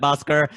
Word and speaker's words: Boscar: so I appreciate that boscar your your name rhymes with Oscar so we'll give you